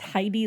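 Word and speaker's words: Hidey: I don't I I also want to note that it's Heidi like hide. Yes, it's spelled H I D E Y. Not like H not like a little German girl.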